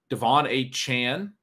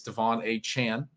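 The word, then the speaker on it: De'Von Achane: somebody who's come kind of out of nowhere Devon a Chan as it's pronounced now we learned a lot of you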